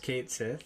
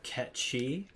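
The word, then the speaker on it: Cait Sith: pronounced Kate Sith. It's Kate Shi, pronounced Ketchi, Cat and Shi.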